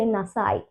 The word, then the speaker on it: nasai: Okay, even though there is a E at the end, we will not pronounce it. It's a silent E. Okay, so we will just say nasai.